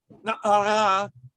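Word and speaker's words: נערה: So the feminine ending of many words would be the ah sound. Na'ar is a youth. Na'ara is a female youth.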